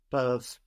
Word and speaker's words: peuvent: This is spelled P-E-U-V-E-N-T. E-N-T on the end of verbs in French isn't pronounced, but it is making us hear that V before it, no? P-E-U-V-E-N-T, peuvent. Peuvent.